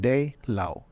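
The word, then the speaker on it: 滴露: something phonetically similar so they call it day Lao that's in Cantonese that sounds like that all it means Dew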